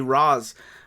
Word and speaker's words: Ra's: I mean, it is an Arabic word, so technically it's supposed to be Raz, but I think there's a lot of liberties with that because of the creators.